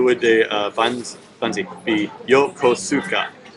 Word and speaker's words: Yokosuka: funds EP Yokosuka Yokosuka it's always four syllables but like sometimes you know as they said some sounds can disappear like the U and s often disappears like I can't hear them say it like this but there is a you but sometimes they kind of disappear but no no I